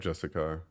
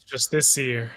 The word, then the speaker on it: Justiciar: everyone in chat type Justicar. Just It's Justiciar. T There it is. car. Nah, dude, there's a CIAR, bruh. The I silent, bro.